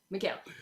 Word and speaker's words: Mikal: It's Mikal.